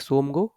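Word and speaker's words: Tsomgo: इसका साथ ही साथ इसमें टी साइलेंट रहता है तो इसको आप यहां पे लेक सो सोमो आप बोल सकते हो तो लेक सोम गो या फिर चांगू लेक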